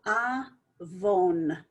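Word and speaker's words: עוון: So here we're going to pronounce the vav. So it's going to be avon. So vav and the dot here as the vowel telling us O, and the nun sofit.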